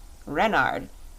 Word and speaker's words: Renard: is King Reynard IV Renard with the accent on the ren what's Ren asked button